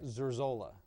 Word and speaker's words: Zurzola: How you pronounce that name again? Zurzola.